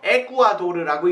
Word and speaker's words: 에콰도르: 이걸 에스파냐로 읽으면 뭐라고 돼요? 에쿠아도르라고 읽습니다.